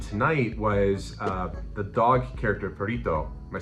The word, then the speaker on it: Perrito: And something that was mentioned tonight was the dog character, Perrito. Am I saying that correctly? You gotta roll your R a little bit. Okay, go for it. Perrito.